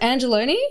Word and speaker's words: Angelone: Is it pronounced Angelone?